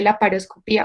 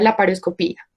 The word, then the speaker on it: laparoscopía: gramaticalmente en sílabas y la terminación, pues ia es un hiato, que pues es una situación gramatical, cuando dos vocales juntas se pronuncian en dos sílabas distintas, por lo tanto, pues lleva una tilde, que sería en la vocal tónica, que sería la I, entonces se lee la paroscopía o se pronuncia la paroscopía. Digamos que pues las dos son ampliamente aceptadas, entonces pues en cuanto a la pronunciación.